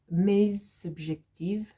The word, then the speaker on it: mes objectifs: But because it's here, mes objectifs, there's a sort of z sound at the end, okay?